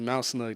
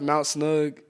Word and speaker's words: Mount Snug: is more i m it's just mous snug that's how oh I'm sorry no it's fine I got I got to say it I it's thank you for correcting me pronounced Mount snug M snug sorry yeah